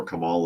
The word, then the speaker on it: Kamala: uh Kamala Harris there Camala Harris AKA camela I've heard both I'm pretty sure Kamala is the correct pronunciation now no uh and